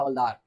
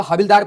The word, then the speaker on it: हवलदार: देखो स्पेलिंग ध्यान से देख लेना, आप लोग पहले उसको हविलदार पढ़ेंगे, नहीं, इसको हवलदार ही बोलते हैं।